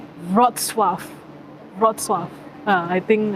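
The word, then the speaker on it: Wrocław: i know how to i know how to pronounce this one it's not it's not cloud i know you know rock cloud it's rod suave broad swap uh i think i think that's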